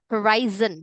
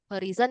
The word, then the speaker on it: horizon: Horizon. Cara bacanya bukan horizon ya, tapi horizon.